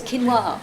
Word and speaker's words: quinoa: The worst they're going to be caught with is some questionable quinoa or something like that. That's how you pronounce it. Somebody told me, is that right? It's quinoa.